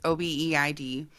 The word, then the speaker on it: Obeid: I believe that's how okay, you pronounce it. It's Obeid.